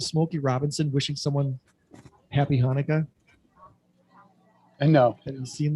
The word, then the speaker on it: Chanukah: asked to do but he didn't realize chanaka is pronounced hanukkah and it's just it